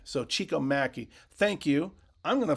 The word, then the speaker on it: Maki: Eric Nestorenko, Chico Maki, not Maki, it's pronounced Mackey. So Chico Mackey, thank you.